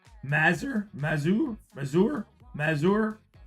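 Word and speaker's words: Mazur: Adam Muser, Mazer, Mazour, Mazour, Mazour on At least it's on card on.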